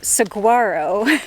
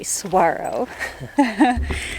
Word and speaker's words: Saguaro: tempted to pronounce Saguaro Saguaro like we were because it's spelled sagu a ro but the G is silent you actually pronounce it like a w so if you come